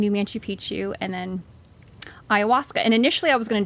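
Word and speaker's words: ayahuasca: talk about this next part where you andaz iasa yeah all right you said it right yep so um I did a 8 day spiritual treat with uh the plant medicine iasa and yeah I basically felt called to do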